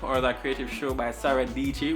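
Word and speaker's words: Sara Dietschy: Number 5 is That Creative Life, or That Creative Show by Sarah Dici, which rhymes with Peachy.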